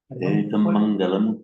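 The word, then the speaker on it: etaṃ maṅgalaṃ: That is because that is because it is followed by an M Right. and pronounced distinctly as a double M.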